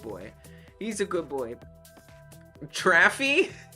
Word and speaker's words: Travie: Traffy? Like traffic, but F-ier.